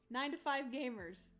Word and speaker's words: 9 to 5 Gamers: Oh, and it's pronounced 925. Oh, gotcha. That makes sense. 9 to 5 gamers.